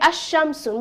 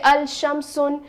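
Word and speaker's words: الشمس: as al babun but when it comes to the sun letter did we pronounce lam no we said asham soon we didn't say al-sham soon but when it came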